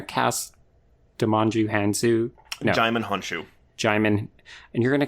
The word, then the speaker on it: Honshu: Like Han Solo shoe that you put on your foot. Honshu.